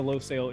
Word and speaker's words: Losail: loel international circuit and I watched like a thous videos to make sure we're pronouncing that correctly because it seems like such a simple word but it is the low sale International circuit and it's it's tough